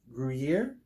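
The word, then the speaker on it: Gruyère: It's a toasted pretzel bread topped with Black Forest ham and melted Gruyere.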